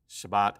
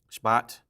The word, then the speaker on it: Shabbat: um as in shahat this is Shabbat as in the first syllable is very very short it's not a sha It's Just sh Shabbat Shabbat like that um and so that's